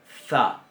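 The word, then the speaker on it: ת: Bien, entonces, sin puntito, la tau se va a pronunciar za. Y con puntito se va a pronunciar ta. Ta.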